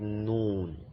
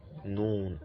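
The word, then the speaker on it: نون: The 25th one, which is this, is called noon, noon, as in nanny, nanny, noon.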